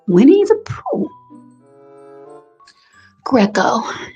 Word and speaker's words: Greco: Yes, Winnie is spelled like Winnie the Poo. Greco.